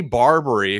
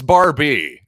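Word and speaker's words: Barbee: really good memory tony barbary who you might remember tony barbie barbri barbie i believe it's barbie as i struggle to pronounce one of the classic mattel toy names of all time but seriously tony barbie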